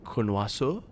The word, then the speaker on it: connoisseur: French doesn't create exceptions, as far as I know, anyway, to pronunciations. Like, if it's an OI, you always say wa. It doesn't matter. It's like, that's always So, and the R is not pronounced, so you say connoisseur.